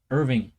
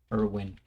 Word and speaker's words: Irwin: this face reminds me of the great Steve Irving or iring how do you pronounce it again the crocodile may he rest in peace Steve Irwin yes ah man uh what a legend it